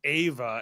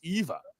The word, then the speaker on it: Eva: uh you and Foster keep saying Ava and it keeps spelling it Ava and somebody somebody came by a video and said I like your video but you say her name weird and so I just it's Eva.